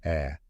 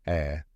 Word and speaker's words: heir: Yes, heir, as in someone who inherits something. Let's start with the spelling, H-E-I-R. But here's the twist. The H is silent. That's right, you don't pronounce the H at all.